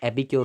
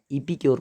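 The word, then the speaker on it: epicure: इसका प्रोनाउंसिएशन जो होगा वो एपिक्योर होगा, ईपीक्योर मत पढ़ना, एपिक्योर।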